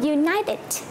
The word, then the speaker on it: united: âm trong văn viết nhưng lại có cách phát âm phủ âm ví dụ khi chúng ta có United united ở đây chúng ta có kí tự